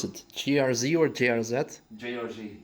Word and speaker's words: JRZ: Well, first of all, finally, how do you pronounce it? GRZ or JRZ? JRZ. JRZ in English, okay.